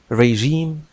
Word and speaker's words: regime: النطق هو ريجيم, لا تنطق ريجيم لأن النطق الفرنسي هو الذي ما زال يستخدم في هذه الكلمة التي أصلها كما هو واضح من اللغة الفرنسية وبالتالي من اللغة اللاتينية.